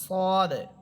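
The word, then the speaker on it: صاد: scene এটা চিকন হরফ আর সদ এটা মোটা হরফ সদ সিন সিন সদ সদ সিফাতগত পার্থক্য সিন চিকন হরফ সদ এটা মোটা হরফ আরেকটা পার্থক্য না সেটা হচ্ছে সিন এবং সদ এই দুইটা হরফের উচ্চারণ ঝিঝি পোকার মত হবে এখানে আবার একরকম অর্থাৎ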